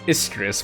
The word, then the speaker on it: Istus: product Ambassador that lady's name was istus which rhymes with mistress good Lord wow then